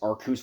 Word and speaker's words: Arceus: bestow upon him now for those of you who are about to say I'm pronouncing Arceus wrong Arceus has known Arceus Arceus Arcus whatever the heck you wanna pronounce it they're all right but I'm going to call it Arceus because that's what they say in the anime so anyway speed Fury